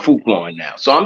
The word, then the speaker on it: Frukwan: He wants to be called Fruitkwan now.